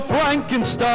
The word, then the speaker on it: Frankenstein: Frankenstein it's been a evensong that your grandfather's monster here tonight is that true dr. Frankenstein steam my name it's pronounced frank enstein yes yes the whole